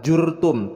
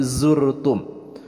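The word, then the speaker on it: زرتم: Kemudian zur, huruf za itu jangan tertukar dengan pelafalan huruf ja, bukan jurtum tapi zurtum.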